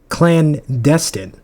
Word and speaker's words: clandestine: Clandestine. What does that mean? Am I pronouncing that right?